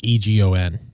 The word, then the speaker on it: Egon: But it's spelled Egon. Like E G- O N.